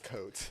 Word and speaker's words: Cote: in the first day, but like it's coat." But afterwards, I was like, "Yeah, it's coat."